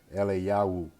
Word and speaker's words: Eliyahu: Again, it can also be pronounced with, you have a wa at the end. It will make it Eliyahu.